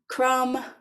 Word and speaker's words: crumb: middle of the word, you know that the B is silent and we don't pronounce it.